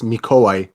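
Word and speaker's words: Mikołaj: introduce mike okay so i'm calling myself but actually my name is mikoy so yeah kind of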